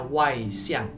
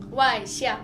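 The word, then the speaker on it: 外向: Nah, kalau extrovert di Mandarin itu kita bacanya Wai Xiang. Wai Xiang.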